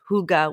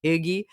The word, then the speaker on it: hygge: have a version of hygge, which I did mispronounce for years and call it hyggie.